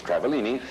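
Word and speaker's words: Travaglini: The G is silent, as in swimming. It's Travellini, and she's also a student.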